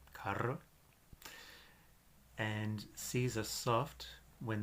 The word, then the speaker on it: cara: but we're not see these are hard when they're before a o or you so we have a word like cara cara and seas are soft